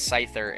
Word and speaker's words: Scyther: But yeah, I found out from a lot of comments yesterday that I was saying Scyther and Scizor, and it's Scyther and Scizor. And the C is silent in both, which makes sense, but